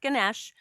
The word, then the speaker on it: Ganesha: And for those of you that aren't familiar with Ganesh, and it's pronounced Ganesh or Ganesha, um, so I'm getting distracted.